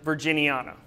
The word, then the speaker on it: virginiana: Greek word meaning acorn in most other cases it will be the second to last syllable that will be enunciated as in virginiana and that's going to